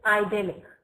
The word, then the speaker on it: idyllic: Just check how you need to pronounce it. Okay, so it's idyllic.